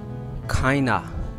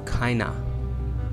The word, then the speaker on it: kind of: Kinda. This word in the real pronunciation is kinda.